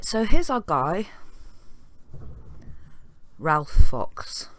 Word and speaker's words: Ralph Fox: Right, so here's our guy, Ralph Fox, or Rafe Fox, however they pronounce it.